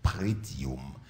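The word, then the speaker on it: pretium: sorti dans la tête prétium P r e comme ça se prononce tium référence à la valeur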